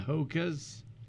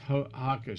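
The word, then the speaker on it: Hoka: zealand or something wow like the haka that's how it's pronounced yes like the hakka dance oh you know like byu does for a game okay so i love these hakka shoes they're cushiony next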